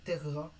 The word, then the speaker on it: terra: Bien poser votre deuxième R et à bien séparer terra dans la prononciation, comme je vous ai appris à le faire entre deux consonnes identiques. Deux consonnes identiques côte à côte ne peuvent pas faire partie de la même syllabe.